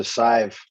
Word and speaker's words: Sive: us to uh see are you going sieve or save i wasn't certain oh five rhymes with five yeah so sive she her celtic mystic